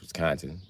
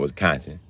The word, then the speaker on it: Wisconsin: First of all, it's Wisconsin, not Wisconsin. But yeah, well, Wisconsin.